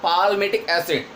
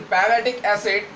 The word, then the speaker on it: palmitic acid: Palmitic acid, here letter L is silent, not palmitic acid, palmitic acid.